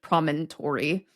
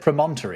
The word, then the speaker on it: promontory: And it does look like in in American English promontory. Yeah, exactly. What did I say? I said promonter, didn't I? So, I got the emphasis wrong. It's it's it's on the first syllable.